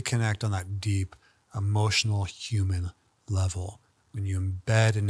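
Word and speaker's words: Ham: want to say and this Mantra is h m but you kind of say it like hum and this is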